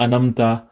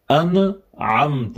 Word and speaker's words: أنعمت: It's not أنمت. أنعمت with عين.